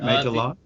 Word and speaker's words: Majorlaan: That is how you pronounce it, right? Majorlaan. That's the Dutch pronunciation.